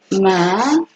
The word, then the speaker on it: מחלה: about the word "sickness", how do you say "disease" in Hebrew? It says מחלה " majala' ”, “ma-ja-la”, okay? That’s the word “sickness”.